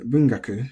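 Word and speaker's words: 文学: So, Rekishi is flat, and Bungaku should be accented. Generally, words that have gaku in them, for instance, like different fields of study, can be pronounced accented before the gaku. So remember, 3 from the end, but because it's the sound, 1 before. So let me just check to make sure. Yep, bungaku.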